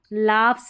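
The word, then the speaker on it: laughs: लाफ्स है, लाफ्स, फ। यहाँ पर जी एच को फ करके प्रोनाउंस कर रहे हैं तो यहाँ पर फ साउंड ही है तो एस लगा तो लाफ्स।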